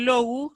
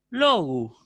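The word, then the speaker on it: λόγου: Ahora, en el caso de logu, también no hay problema, digo logu, ¿sí? Logu. Un poquito más agudo suena el acento.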